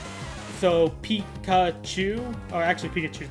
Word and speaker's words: Pikachu: this is important okay it's made of five characters Pikachu it is piki small o small U and large and a big oo the big ooh is just to indicate a long a long vowel so it's still three uh syllable it's more like four syllables but it's three syllables it's Pikachu but I said there's five